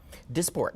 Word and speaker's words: Dysport: And it's called, it's called, and I don't want to mispronounce this, Dysport? Dysport.